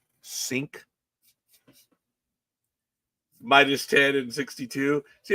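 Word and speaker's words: Cink: C I N K C I N K sink minus 10 and 62.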